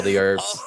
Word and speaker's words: The Urbz: I thought you were saying the herbs, because the way Americans say herbs is without the H. Yeah. I was like, what are you talking about? The Sure. Okay, the Urbz, the URBZ.